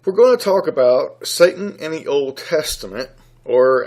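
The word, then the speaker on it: שטן: And it's believed to be pronounced as Satan, S-A-W-T-A-W-N.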